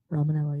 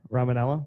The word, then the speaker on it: Romaniello: Romanello, yeah. Or Ramanello? Romanello. Ramanello. That I is silent.